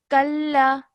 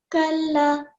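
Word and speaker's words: كلا: And then when you're joining the kaf to the lam, you join it, and then again, it has a simple fatha. So you're not elongating for more than 1 second. Kalla. Kalla.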